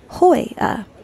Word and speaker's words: La Jolla: But we're off to La Jolla. Hoya. The J being pronounced as an H.